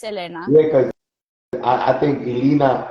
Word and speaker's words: Elena: Yeah, you pronounce it Elena, right? Yeah, some people say Elena. It's my middle name, so it's Elena.